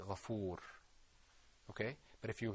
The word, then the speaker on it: غفور: How would you pronounce it if you were going to stop on it? Ghafur.